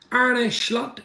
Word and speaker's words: Arne Slot: absolute Legends in the house as I say ar schlot welcome to Liverpool the Legends continue Juran Norbert